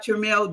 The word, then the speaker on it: Tremel: My grandmother used to say it's like church mail.